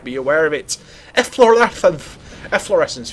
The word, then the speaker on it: efflorescence: aware of it eor efflorescence if you wonder how to pronounce that in English it's efflorescence your Swift men spell